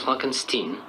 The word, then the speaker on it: Frankenstein: Non, mon nom se prononce Frankenstein.